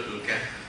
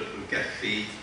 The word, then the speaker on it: al-Kahf: Our subject, a very important subject, is entitled Surat al-Kahf, or as the Malay pronounce it, Surat al-Kahfi.